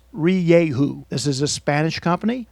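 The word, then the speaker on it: Rieju: in the US we're finally learning how to pronounce re Yahoo this is a Spanish company that now owns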